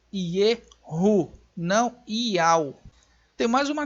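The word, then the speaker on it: יהוא: Ela tem um som do H do hebraico, é uma gutural, que ela vai ter este som aí. Então é Yehu, não Ial.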